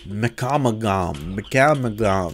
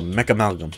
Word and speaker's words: Mechamalgam: Starting off with the Mechamagam. That's a weird word. Mechamagam. That's not how the word's pronounced. It's amalgam. So mechamalgam. There we go. That sounds right.